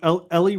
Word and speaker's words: Elle: Like Elle McPherson.